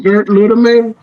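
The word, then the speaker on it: Gerd Lüdemann: Gerd Ludeman, I think. How do you spell that?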